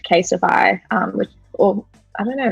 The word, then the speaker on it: CASETiFY: So last year, this tech business called Casetify, or I don't know, it's called Casetify or Cassetify. I don't know how you pronounce it, but I think it's like Testify. I think it's Casetify.